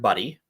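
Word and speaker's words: Budde: by the name of Reverend Buddy. Is that really how you say it? Yeah, that's really how you say it. That's really how her name's pronounced.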